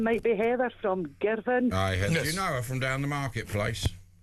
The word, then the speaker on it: Girvan: I think her name might be Heather from Girvan. Do you know her from down the marketplace? You always mispronounce it. Scotland. In Scotland, it's Girvan, not Girvan.